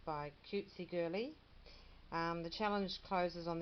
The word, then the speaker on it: CutsiGirly: challenge and it's um I think this this would be pronounced cutesy girly isn't that sweet cutesy